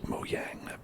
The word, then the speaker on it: Mojang: Mojang is pronounced Mojang because it's from Sweden, yes.